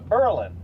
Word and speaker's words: Berlin: of Berlin New Hampshire we don't call it Berlin we call it purlin and uh there's a